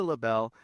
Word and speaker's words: LaBelle: Today they have Lisa LaBelle. Am I pronouncing that right?